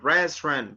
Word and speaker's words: restaurant: restaurant Only 2 syllables. Remember, restaurant, restaurant, restaurant.